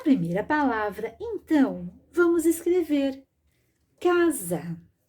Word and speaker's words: casa: palavra Então vamos escrever casa já pronuncie o z mas escrevo com s casa pronuncie o z